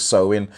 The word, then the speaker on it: Samhain: it's not spelt like that it's spelled samhain but i think you know when you go on google and it breaks it down for you like you're a child and tells you how to pronounce it i'm sure it was so in and this is when